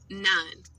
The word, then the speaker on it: non: Non, rhymes with on.